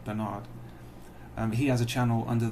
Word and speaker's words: Bernard: Now in England, of course, we pronounce that Bernard Chapin, but I doubt he'd go for that somehow, and I'm not out to offend him, so we'll go with Bernard.